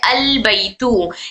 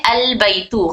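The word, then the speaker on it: البيتُ: घर को प्रोनाउंस किया जाता है अलबैतु। कैसे किया जाता है? अलबैतु, खाली अलिफ के साथ हम शुरू करेंगे इसको, अलबैतु।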